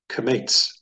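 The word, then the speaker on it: qamats: And so this vowel here is called kamates. Kamates says ah, as in spa.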